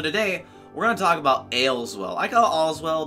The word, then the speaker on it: Aleswell: we're gonna talk about ale as well I got all as well because it's easier to say that but it's really in the game it's pronounced ale as well so ales well well it's kind of